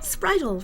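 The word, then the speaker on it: Spritle: they mispronounce it well you think of sprite that's all a water sprite right any kind of sprite yeah and then we cut spritel from that and trixie how'd you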